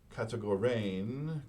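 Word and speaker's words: κατηγορεῖν: So there is this Greek verb, kategorein is how we would pronounce it, and it means predication.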